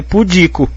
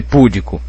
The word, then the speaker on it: pudico: gente que fala pudico se tá sem acento É porque tem que ser pudico não pode ser púdico Ok púdico teria que ser assim porque aí teria proparoxítono púdico mas se não vem com acento eu leio pudico Ok Então olha que